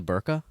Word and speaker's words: burqa: Man, what is the pronunciation of the coverall? Like the burqa?